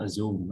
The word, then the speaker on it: assume: always hear students pronounce assume. Assume is not right. Assume, assume, and be stressed on the second syllable.